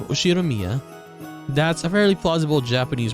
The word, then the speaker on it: Ushiromiya: His name is pronounced USHIROMIYA George.